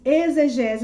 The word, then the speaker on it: exegese: Então, da etimologia da palavra exegese, ela se escreve assim, é com X, exegese, mas pronuncia com Z. A exegese, ela vem do grego exegeses, que significa o quê?